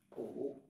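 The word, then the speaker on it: 午: bạn viết như sau như thế này bạn đọc là ủ là Ngọ tức là 12 gi trưa Thế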